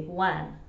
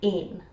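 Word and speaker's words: ane: Or someone from Glasgow, for example, might say wan, as in just W-A-N. But in Dundee, the number 1 is usually ain, which I would spell, and I think most people would spell it A-N-E.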